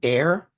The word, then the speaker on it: heir: way the the word air h e i r they still pronounce it as air don't they it's because